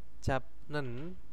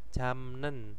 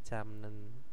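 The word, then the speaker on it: 잡는: M yatohnya di sini ada japnen Bacanya apa jamnen ya nah ini kalau baca seperti ini japnen itu kan e keserimpet ya lidahnya Nah akhirnya menjadi jamnen terus ada jpnen itu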